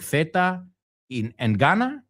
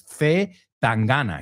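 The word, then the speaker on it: C. Tangana: I'm like, Zeta and Gana, like Zeta, la letra. And she's like, no, it's Zetangana. He's a rapper. And I'm like, oh, Zetangana.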